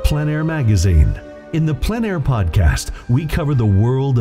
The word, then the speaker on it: plein air: In the Plein Air Podcast, we cover the world of outdoor painting, called plein air. The French coined the term, which means open air or outdoors. The French pronounce it plein air.